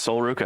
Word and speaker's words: Sol Ruka: on this next one here, which is of Sol Ruka. I'm not familiar with her either. I hope I'm saying these right. Yeah, that's Sol Ruka.